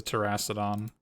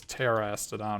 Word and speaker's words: Terastodon: Oh, it's Terastodon, right? There's no. Oh, what? How is it pronounced? Or how's it spelled? Terastodon? Oh yeah, there's only one R in it.